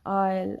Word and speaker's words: isle: The letter S is not pronounced before letter L in some words. Wherever we find S before L, there we do not pronounce this S. S becomes silent, as in the case with isle, island, right?